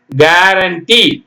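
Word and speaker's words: guarantee: டிஐ என் G building பிஐ L building building கேரண்டி ஜி ஏ அது மாதிரி படிக்கணுங்க யூ போடணும் ஜி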